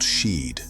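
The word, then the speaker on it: sídhe: In Irish, these mounds are called sheed, pronounced she.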